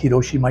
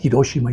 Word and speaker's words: Hiroshima: lo que ustedes quieran, me dijo que la pronunciación correcta era Hiroshima y no Hiroshima.